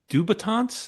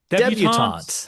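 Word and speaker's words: debutantes: Uh 1971 teenage uh dubatants. Is that how that's pronounced? Debutants. Debutants.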